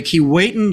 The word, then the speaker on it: Keewatin: The folks that I talk to in Thunder Bay say Keewatin. So there's a bilingual kind of thing going on here.